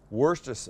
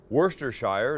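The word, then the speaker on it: Worcestershire: lineup a hundred people you get a hundred different pronunciations of this worstest we're sester Shire is what it looks like it's not would they say Wurster Shire is I think would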